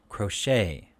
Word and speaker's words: crochet: a-i-g-h and then it crochet ballet these are french words so the t is silent so the a a